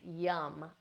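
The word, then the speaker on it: yam: Yum, I always like this one for the heart, yum, Y-A-M, pronounced yum.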